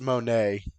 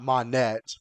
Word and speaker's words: Monet: it's it's it's uh I think it's pronounced Monae or it's not Monette but I'm pretty sure it's Monae yeah what Zoro did